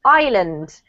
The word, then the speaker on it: island: I know because it has an S, but we actually don't pronounce the S. It's silent, so it's pronounced island.